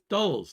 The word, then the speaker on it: Dulles: Dulles.